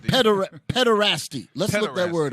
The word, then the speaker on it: pederasty: How do you pronounce that? Pederasty.